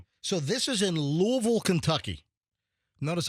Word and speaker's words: Louisville: So, this is in Louisville, Kentucky. Notice how I say it like a local. Yeah, not Louisville.